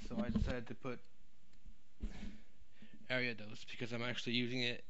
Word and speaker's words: Ariados: is ariados and yes it's area though it's not a riotous or any other pronunciation it's ariados and if you don't like it well you better start saying it that way I'm just kidding I don't care but the official pronunciation is ariados but the reason why